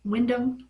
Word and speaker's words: Wyndham: and Bo Dallas um friend Wyatt's name is Wyndham Rotunda um but it's spelled w-y and d h a m instead